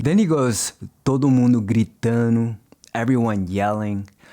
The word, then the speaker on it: gritando: Then he goes, todo mundo gritando, everyone yelling. Notice how he drops the D in gritando.